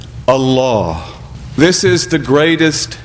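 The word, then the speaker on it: الله: the word according to standard modes of Arabic pronunciation we would say Allah Allah but instead we say Allah and that change in diction is emphasis for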